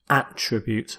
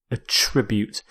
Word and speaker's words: attribute: is attribute a tribute it's a verb so with this verb you stress the second syllable it also works as a noun where you stress the first attribute but here as a verb attribute if you attribute something